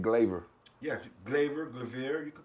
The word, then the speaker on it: Glavir: for another show hey global though so i'm calling it global but you saying glaver yes glaive graveyard you